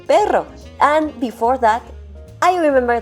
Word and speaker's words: pero: just one R because the pronunciation of just one R is totally different compared to Double R because of all R